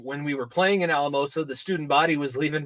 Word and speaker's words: Alamosa: I was about 10 I thought this city that the school is located in was pronounced asima because my father refuses to pronounce it Alamosa how why does the